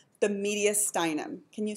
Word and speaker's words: mediastinum: the what ya done and the accent is on the eye ok so the mediastinum has tubes and stuff